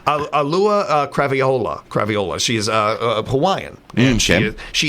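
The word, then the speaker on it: Auliʻi Cravalho: I just mispronounced. Alua Craviola.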